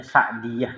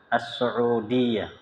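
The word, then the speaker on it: السعودية: Ya, kalau nggak pakai waw itu bacanya Sa'diyah. Jadi Saudi itu su'u, pakai ain, kemudian waw. As-Su'udiyah. Ya. Sin, ain, waw, dal, ya, tak marbutah. Ya, jadi As-Su'udiyah.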